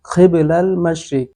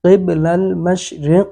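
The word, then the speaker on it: قِبَلَ الْمَشْرِقِ: খিব খ ওই কফ ওই খ হরফ চেঞ্জ করছে বন্ডর বাচ্চা বন্ডয়। তারপরে কিবলাল মাশরিক ওয়াল মাগরিব, কফ সে ওইখানে কাফ পড়ছে। কফ আর কাফ উচ্চারণই বুঝে না, কিভাবে করতেব সেটার তফাতই বুঝে না।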